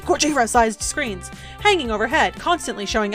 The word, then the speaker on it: Gojira: Complete with Gorija-sized screens hanging overhead. Completely- Gojira! Sorry, I should be saying it correctly. Gojira-sized screens hanging overhead, constantly showing advertisements for arcade games and industry happenings.